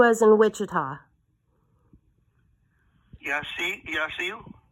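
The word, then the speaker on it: Yaciw: Yachu? Yachu. How do you pronounce it, ma'am? Yachu, like a sneeze.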